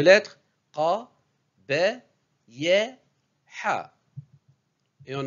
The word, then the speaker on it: ق: Qabi hun. Répétez après moi. Qabi hun. Ce n'est pas ka, c'est qa. Qa. Qa, c'est la 21e lettre de l'alphabet. Elle est un peu difficile à prononcer.